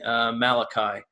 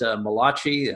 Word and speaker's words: Malachi: Minor Prophets that being Malachi not to be pronounced mulashi this is not an italian prophet in any way the Hebrew prophet and the